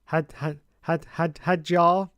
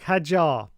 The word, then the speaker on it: Hadjar: Hadjar. Isaac Hadjar. But I suspect the D is silent, so I'm going to say Isaac Hadjar.